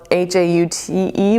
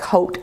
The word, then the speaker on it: haute: This one I love because it says hot mess, but it's spelled H-A-U-T-E, which is like haute, like haute couture, hot mess.